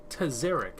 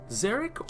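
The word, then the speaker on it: Tzerak: Tzerek. Am I saying that correctly? It's you either pronounce the T or the T is silent, so it's Tzerek or Tzerek. Either or, however you want to say it.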